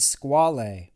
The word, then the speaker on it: Squale: calling squalid that's not cool no I said squal actually it's pronounced squal which is the French word for shark in Italian the word for shark is actually squalo n man it's squale it's a squal woohoo no it is squal